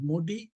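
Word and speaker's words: MODY: MODI, that is actually the pronunciation is MODI.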